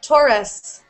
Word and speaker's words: Taurus: it here okay um I'm tus taus you pronounce tus uh yeah I would say Taurus Taurus Taurus okay Taurus um says um strong